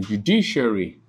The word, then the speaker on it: judiciary: Then judiciary, you have J-U-D-I-C-I-A-R-Y.